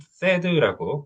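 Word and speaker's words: THAAD: 그리고 이제 이 새드라고 이제 사드는 그 영문으로 갔을 때 새드라고 읽어주시는 게 정식입니다.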